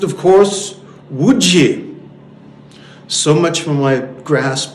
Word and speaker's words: Łódź: He said, "It is pronounced, of course, Łódź."